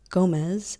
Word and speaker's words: Gomez: Gomez, still eating the octopus, says, "By the way, Gomez is pronounced Gomez."